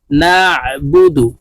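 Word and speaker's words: نعبد: বু দাল পেশ দু নাবুদু আইনকে হলকের মধ্যখান থেকে চাপ দিয়ে উচ্চারণ করতে হবে নাবুদু ইয়াকা নাবুদু ওয়াও জবর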